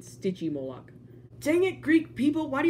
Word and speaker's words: Stygimoloch: it looks almost just like the city Moloch I mean sticky Moloch dangit Greek people why